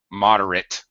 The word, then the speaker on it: moderate: me to pronounce moderate moderate so the at is just it it's extremely reduced like like separate separate